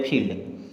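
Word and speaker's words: field: तरह पढ़ेंगे जैसे देखिएगा एफ आई ई एल डी तो एफ से बना फ अब लगाएंगे बड़ी ई की मात्रा एल डी से आधा ल और ड तो बन गया फील्ड एस एच है ना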